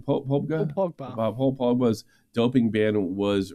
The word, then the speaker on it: Paul Pogba: Paul Pogba.